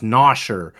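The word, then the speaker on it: Gnosher: His name is Nosher, with the G is silent.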